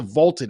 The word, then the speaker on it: VLTED: so go download the vaulted app that's spelled v LTE D it's the app you